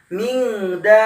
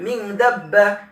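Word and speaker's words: من دابة: Maka mad tabi'i bertemu dengan tasydid pada satu kalimat dipanjangkan dulu. Bacanya seperti ini. Min dabbatin. Tidak boleh langsung min dabbah. Nah, panjangkan dulu.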